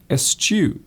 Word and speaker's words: eschew: It's actually pronounced as it looks. It's actually eschew.